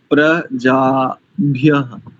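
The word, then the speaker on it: प्रजाभ्यः: और इसके आगे देखिए प्रजाभ्य एकदम अलग अलग शुद्ध उच्चारण होना चाहिए प्रजा भ अब ठीक है अब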